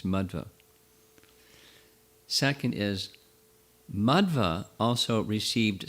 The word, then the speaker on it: Madhva: not first of all the pronunciation is not madhava but it's madhva they mean different things it's mudva second is madhva also